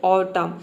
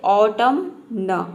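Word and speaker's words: autumn: करते हैं ऑटम येय यहां पे ये नहीं बोल सकते हैं ऑटम न ऑटम न इस तरह से आप नहीं बोल सकते हैं यहां पे केवल हम प्रोनाउंस करते हैं ऑटम एन को साइलेंट रखते हैं देखिए यहां पे ए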